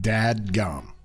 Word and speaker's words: dadgum: Dad- Is it dadgum or daggum? Dadgum.